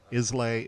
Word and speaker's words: Isla: Well, she's Isla. Isla. But it is the silent S sound, like island.